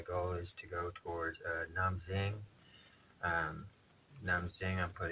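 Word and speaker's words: Nam Định: is to go towards Nam Zing um Nam Zing I'm put in the spelling here had to look it up the D is pronounced like a z and different knes so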